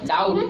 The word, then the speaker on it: doubt: लेकिन एक होता है टी के पहले अगर बी आए, टी के पहले अगर बी आए, टी के पहले, टी के पहले आया बी, आया साइलेंट होता है। जैसे एग्जाम्पल में देखो तो समझ में आएगा। एग्जाम्पल में इसको क्या पढ़ते हैं? पढ़ो, इसको क्या पढ़ते हैं? DOUBT। क्या पढ़ते हैं इसको? डाउट।